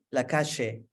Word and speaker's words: Lacalle: ¿Cómo pronuncia su apellido? Lacalle. ¿Como argentino? Sí.